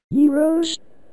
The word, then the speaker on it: gyros: for some gyros myself that's pronounced zeroes heroes yes heroes oh dave you're my